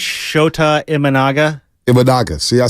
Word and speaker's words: Imanaga: Imaga. I don't even know if I'm pronouncing that properly. Imaga. Save that for mispronunciation. No, save his. Both of ours. What is it, Lubbock? I think it's Shota Imanaga.